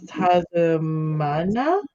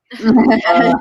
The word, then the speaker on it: Itzamna: there's also is Tazamana? Tasmania? Tree of the writing. Origin Maya. Spell it. Jeremiah. Maya, not Jeremiah. Itzamna.